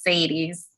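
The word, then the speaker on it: Sadie's: It's Sadies. Sadies. God damn it. Like the song.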